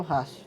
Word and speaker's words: ratio: Todo T seguido de I, mais uma vogal ou semivogal, tem som de C. Por isso que eu falo ratio, tá?